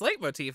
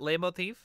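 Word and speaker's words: leitmotif: really yeah i'm saying i think i'm saying it right it's late motif right not not lame motif or late motif it's light motif that's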